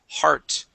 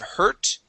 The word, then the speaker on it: heart: and one last word this is heart instead of hurt har heart heart good